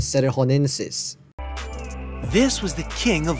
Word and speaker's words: cerrejonensis: Number 2, Titanoboa serringonensis. I think that's not how you pronounce it. It's supposed to be pronounced Titanoboras cerrejonensis.